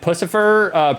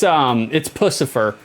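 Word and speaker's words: Puscifer: Stench, is it Pussifer, pronounced like Lucifer, just with a P rather than Pussifer? No, it's Pussifer, because it's more like pussy. It's more like vagina.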